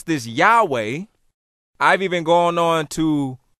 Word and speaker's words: Yahweh: And we pronounce this Yahweh. I've even gone on to an extended level and pronounced it Yehwah because the Jews call themselves Yahweh, Yehwah.